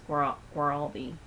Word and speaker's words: Guaraldi: I don't know if I say his name right, but I think it's Guaraldi. I think it's how you say it.